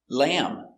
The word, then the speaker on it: lamb: end when you have MB at the end the B is always silent and in this video